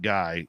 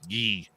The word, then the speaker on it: Guy: Around here, it's not Guy, it's Gee. We prefer the Quebec pronunciation.